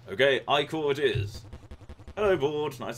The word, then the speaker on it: ichor: This is pronounced Ichor. Okay, Ichor it is.